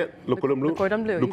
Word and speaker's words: Le Cordon Bleu: Le Cordon Bleu.